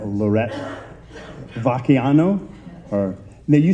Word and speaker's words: Vacchiano: the last name, Lorette Vacchiano. Now, you said there's an Italian way to pronounce it. Is it? Okay. And now, how's the American way to pronounce it? Vacchiano. Vacchiano. We like the ch.